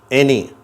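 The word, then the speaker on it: any: இந்த வார்த்தையில் என்ன உச்சரிப்பு கிடைக்குது? ஏ அப்படிங்கிற உச்சரிப்பு, எனி.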